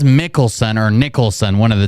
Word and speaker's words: Mickelson: He says Mickelson or Nicholson, one of the two. Nicholson? Can you spell it out for me, please? You gotta speak up, man. M-I-C-K. E-L-S-O-N.